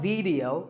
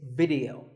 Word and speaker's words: video: The important thing is that both the I and the E are pronounced as short I sounds. It's not video, it's video. If you watch a video